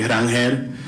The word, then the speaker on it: Ronald Acuña: Yeah, the proper pronunciation the the proper Spanish pronunciation. Here it is. All right. The question was around Venezuela and also how he actually says his name. So, my name is actually Ronald Acuña but however you guys